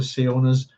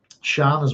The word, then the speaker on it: Siona: from here with a very similar name to Sionas. And a lot of people in Northern Ireland would mispronounce it and they would call it Scion Mills and it's Shan Mills. Um, Shan as well.